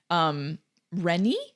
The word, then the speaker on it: Renni: So they go back and forth because obviously Rennie, right? That's how you say it. Yeah, Rennie. Rennie is distraught about her son, and she asks if Silco's going to take any action against Jace.